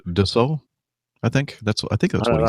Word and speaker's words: Dassault: I think it's Dassault. I think that's what he said. I'm not French. It looks like Dassault. That, of course, that's not the way you pronounce it if you're French.